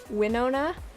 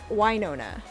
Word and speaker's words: Wynonna: Anna or Wynonna sorry I always thought it was Winona cuz that's how it's spelled but it's Wynonna like god it's so